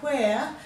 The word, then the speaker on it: where: Now where, you can hear the H after the W. Where, you can feel the air, so you know that there's an H there.